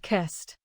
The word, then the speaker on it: kissed: Compare closed with kissed. Close ends with a voice Z sound, so closed finishes with D. Kiss ends with a voiceless S sound, so kissed finishes with T.